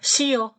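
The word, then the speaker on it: 쉬어요: Sio Sio gitu Kenapa karena eh untuk istirahat itu tulisannya memang gini Swi tulisannya gini kan Swi tambah Oyo istirahat kan artinya Jadi kalau orang goreng ngomong udah istirahat aja Sio Sio kayak gitu aja bunyi nya Sio Sio enggak ada saya sih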